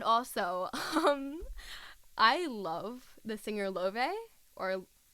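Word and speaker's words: Laufey: And also, I love the singer Love, or Lafe, or Leve, however you want to say it, but I believe she said her name is pronounced Love, so that's how I say it.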